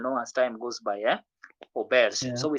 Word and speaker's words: auberge: So that word is said as Oberg. yeah, you're almost there, but it's auberge. Remember that letter we said letter J. J. The sound was J.